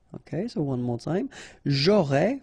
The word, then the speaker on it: j'aurais: J'aurais, final S not pronounced, tu aurais, same thing here, il aurait, elle aurait, final T not pronounced, so phonetically exactly the same form here.